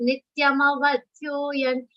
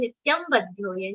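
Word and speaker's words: नित्यमवध्योऽयम्: Now people end up saying Nityam vadhyoyan. Nityam vadhyoyan means that ma becomes half. And how it becomes Nityam vadhya, which is the wrong interpretation. That is why that ma should be complete when you are saying the shlokas. So whatever pronunciation your trainers are telling, you have to listen carefully. Nityama vadhyoyan ma vadhya. That becomes a sar and becomes Nityam avadhya.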